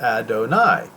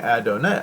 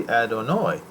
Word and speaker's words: Adonai: rightly so uh uh he says I don't I is pronounced Adonai I was saying I don't know I donate and I said thank you but now I have looked into it the pronunciation appears to be adonoi I will change my pronunciation accordingly and he says he's